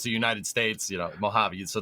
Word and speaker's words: Mojave: Because even though it's the United States, Mojave, so the J sounds like an H.